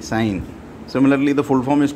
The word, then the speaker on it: sin: So it's not pronounced as sin, because actually the full form is sine, sine.